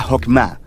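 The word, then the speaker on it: חכמה: En hebreo se pronuncia Jokmah, y usualmente se traduce al español como sabiduría. Es un atributo de Dios que Dios usó para crear al mundo, y Jokmah ha sido entretejida en la tela de las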